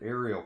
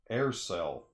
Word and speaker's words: Aircel: This is, oh my, I said Ariel Comics. That's what it looks like the way it's spelled. It's actually Aircel Publishing. AIRCEL, not Ariel.